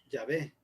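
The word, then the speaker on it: Yavé: letras según los estudiosos la forma más ideal de pronunciarlo es ya ve en español y web en inglés sin si no recuerdo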